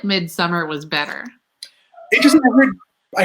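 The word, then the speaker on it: Midsommar: but that's going about mid-summer though it felt so real which was scary in its own way i've heard it pronounced midsummer i'm that so now i the director called it midsamar well it's like when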